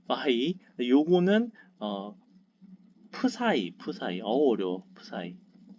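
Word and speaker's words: ψ: 파이 발음 파이 요거는 푸사이 어려워 푸사이 네, 이럴 겁니다.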